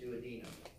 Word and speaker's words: duodenum: The first is called the duodenum, all right? Some people pronounce it duodenum. Potato, potato. All right?